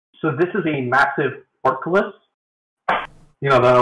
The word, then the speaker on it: portcullis: It's not really... It's pronounced like how it's spelled.